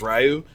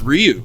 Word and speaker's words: Ryu: I even pronounced him incorrectly forever as Ryu because I'm American and I'm a dog, but it's what happens. Isn't that how you pronounce it? No, it's Ryu. It's you get the high Y sound.